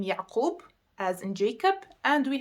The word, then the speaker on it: Yaqub: appeared on, I'm gonna tell you how to pronounce them. So for now, we have the name Yaqub, as in Jacob, and we have the name Salahuddin.